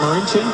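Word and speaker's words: Marinčin: Marincin?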